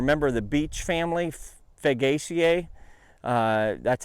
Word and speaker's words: Fagaceae: The chestnuts are a member of the beech family, Fagaceae. That's how I pronounce it.